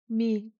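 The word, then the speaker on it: མི: If I add a gigu, how is it pronounced? Mi.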